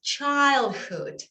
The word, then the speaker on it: childhood: Es verdad, se escribe childhood, si es que lo leemos tal cual, pero en inglés, olvídense de la I, es A-I, bien abierta, childhood, ¿ok?